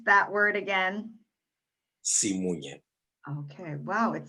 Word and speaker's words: Simunye: Could you just pronounce that word again? SIMUNYE.